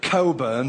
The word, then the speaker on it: Cockburn: butcher, baker, carpenter, and cockburn. Of course, they insist on pronouncing it cobburn, but we know the truth.